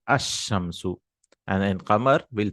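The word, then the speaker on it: الشمس: You don't pronounce the lam, like ash-shamsu, the example itself. So we say ash-shamsu.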